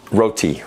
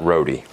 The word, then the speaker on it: roti: road is so quick roti roti not roadie i mean they have